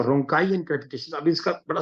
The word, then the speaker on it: rhonchi: अब ऐसे बोलने में तो रॉन्ची लगेगा, जैसे बच्चे कहते थे रॉन्ची ना पीटो, लेकिन ये रोंकाई डिजीज है।